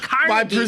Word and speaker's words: Carnegie: And that's the Carnegie Deli. That's pronunciation. Right. They say the Carnegie Deli there.